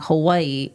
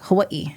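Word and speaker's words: Hawaiʻi: instead of it reading like Hawaii, you separate like Hawaii, kind of like a hiccup.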